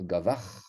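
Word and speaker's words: גבר: Mais ici, on va avoir gavar. Ce n'est pas un chet. Il faut faire très attention de ne pas être tenté de prononcer un chet. Il s'agit d'un he qui est prononcé.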